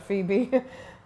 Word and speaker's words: Phoebe: they think the word Phoebe I think the fact it's spelled so differently to how it's said p h o e